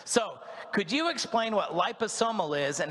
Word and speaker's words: liposomal: this is liposomal so if you look at the top word there liposomal that's how you say it you're going to tell